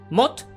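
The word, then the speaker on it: maat: Mot, que se escribe como M-A-A-T, es la palabra que define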